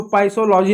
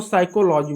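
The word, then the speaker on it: psychology: इसको पसोलॉजी नहीं बोलेंगे। इसको साइकोलॉजी बोलेंगे। पी साइलेंट होगा।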